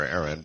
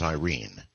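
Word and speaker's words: Airyn: And uh it's actually I call her Aaron and even some Filipinos pronounce it Aaron. However, her real name is Irene. Irene. Uh so yeah, it's actually pronounced Irene here.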